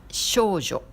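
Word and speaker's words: 少女: Filles, les petites filles, c'est shoujo. Jo, ça s'écrit avec ce kanji qui veut dire les femmes.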